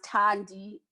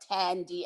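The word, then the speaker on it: Thandi: me as tandy and pronounce tandy as in gandhi not tandy as in candy the last part of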